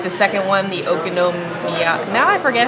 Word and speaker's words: okonomiyaki: All right, the second one, the Okonomiyaki. Now I forget how to say it. Okonomiyaki.